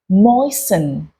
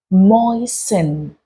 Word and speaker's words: moisten: You do not say moisten. You say moisten, moisten.